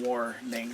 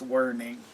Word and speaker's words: Werning: I don't know why, but I keep calling it Warning, but it's Werning.